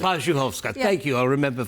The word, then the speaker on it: Parzuchowska: It's Parzuchowska, actually. Parzuchowska.